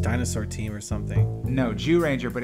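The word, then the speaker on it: Zyuranger: team or something no jew ranger but it's spelled it's spelled z-y-u but it's jew as in jurassic park so what right so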